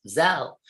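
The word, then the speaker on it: Zelle: venmo cash app and now zell pronounced zell sorry thank you to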